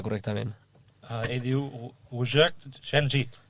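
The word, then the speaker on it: Szczęsny: Com s'hauria de pronunciar correctament? Ell diu Ujak Shenji. Szczesny.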